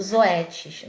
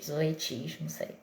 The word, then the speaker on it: Zoetis: eu faço o projeto utiliza o zoet não sei se é assim se pronuncia Tá mas é enfim é z o t e s zoet zoetis tá lá de zootecnia